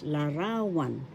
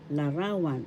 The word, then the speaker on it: larawan: ra third syllable one the accent is in the second syllable ra so we say this at pronounce we pronounce this excuse me please larawan larawan this means picture in